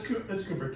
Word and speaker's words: Kubrick: Yeah, Kubrick or Kubrick? It's Kubrick. You're right.